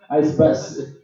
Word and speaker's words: ICEBUSS: Is that pronounced ICEBUSS? ICEBUSS. ICEBUSS. A bus made from ice.